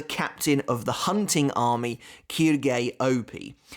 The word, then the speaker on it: Quilge Opie: And I think that's how you pronounce his name. Honestly, I've never been too sure. It was a lot easier way back in the day when it just looked like it was pronounced as Quilge.